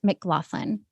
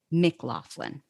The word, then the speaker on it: McLaughlin: pronounce it because i know i'm going to mispronounce it sure yeah it's at mclaughlin mclaughlin okay and then your website can you spell